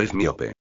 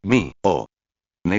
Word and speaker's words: Hermione: Él seguía diciendo, "Es miope, er, mi o ne" decía ella despacio y claro.